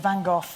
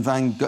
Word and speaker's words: Van Gogh: what do you reckon van Gogh is it go he's meant to be pronounced the same as lock they Scottish a lot